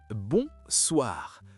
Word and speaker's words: bonsoir: C'est le même principe nasal, bonsoir.